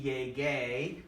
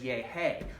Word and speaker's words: llegué: want it to be llegué. We want to have that hard G sound, so it becomes, that doesn't say llegué, that says yehe. How do you make the g sound? You add u.